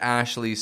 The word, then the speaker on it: Ashley: It's just the li. It's the fading ending E sound on the ending.